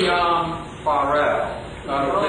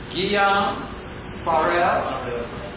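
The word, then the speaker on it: Guillaume Farel: Guillaume Farrell. Did you say it correctly, please? Yeah, that's correct. Guillaume Farrell.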